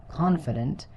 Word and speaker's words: confident: The stress is on the first syllable. Confident.